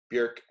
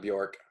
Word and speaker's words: Björk: So I'm going with Bjork. Thelma Songs from 2000. So Bjork's got the little umlaut over her, or I guess technically Bjork. It should be Bjork, not Bjork. But people know her as Bjork here.